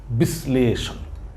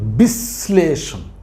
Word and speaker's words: বিশ্লেষণ: শ্লেষণ তাহলে কি হইলো স এর উচ্চারণটা কয়বার হয়েছে দুইবার হয়েছে তাইলে উচ্চারণের ক্ষেত্রে আমরা